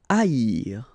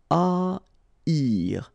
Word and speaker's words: haïr: Haïr. Okay, so keep in mind that here you will pronounce it like I. Haïr. First H is not pronounced. Okay, so haïr. Haïr.